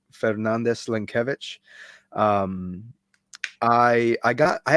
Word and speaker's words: Fernandes-Lenkiewicz: Uh, but if you'd like to know how to pronounce it, it's uh, Fernandez Lankvich.